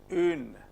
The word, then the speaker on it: une: This effort you have to make, and you have to keep the lip in the position of pronouncing U. So the effort is from E, you don't have to pronounce U. Une. You make this effort. If you make an effort of pronouncing U, you will make a mistake, and I have seen many students making this mistake.